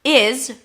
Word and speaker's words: is: Now, is reduces to z. Notice it's a Z sound. It's not an S, except for one exception.